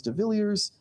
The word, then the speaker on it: de Villiers: Yes, so we have Professor de Villiers. I forgot to ask if I'm pronouncing that correctly. Yeah, de Villiers. Okay. You don't have to do the French pronunciation.